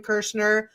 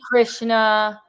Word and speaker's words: Kirshner: And don't call me Krishna.